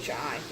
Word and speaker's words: gnocchi: Yeah, so if you don't know what gnocchi is, it's spelled funny. It's like spelled with a G. Gnocchi.